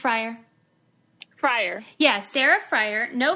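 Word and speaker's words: Frier: Sarah, is your last name pronounced Fryer?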